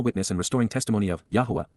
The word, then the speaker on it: Yahowah: For how long, Adma, until when will the eternal witness and restoring testimony of Yahowah, Yahowah, the proper pronunciation of the name of Eloah, God as directed in